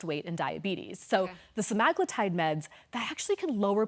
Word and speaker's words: semaglutide: Okay, and by the way, it's not semaglutide, it's Semaglutide, just like tirzepatide. We've been saying it wrong this whole time.